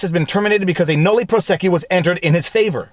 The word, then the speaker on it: nolle prosequi: Now, it seems I may be mispronouncing the term, but let's just check with that YouTube pronunciation site. Nolle prosequi.